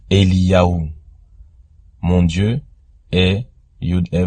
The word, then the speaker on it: Eliyahu: On voit que dans ce mot, on retrouve le Yod, le He et le Vav qui se prononcent Eliyahu.